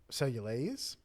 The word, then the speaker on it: cellulase: produce something called cellulase cellulase and it's spelled like cellulose only there's an A or there's a yeah a instead of an O at the end so is it like